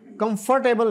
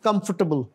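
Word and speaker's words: comfortable: आगे जो है क्लोदिस जो लिखा नजर आ रहा है, this is actually close, close, T एच इसमें भी साइलेंट है। देन कंफर्टेबल, कंफर्टेबल नहीं, कंफर्टेबल।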